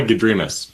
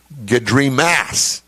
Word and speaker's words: Gadrimas: The problem is that he made MASS at the end of the pronouncer, all in caps. So in my world, it would be Gadrimas.